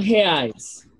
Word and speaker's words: reais: Por reais. Como? Reais. Esta R em português, a R inicial em uma palavra se pronuncia como uma J em espanhol. Então, dizemos reais. Reais.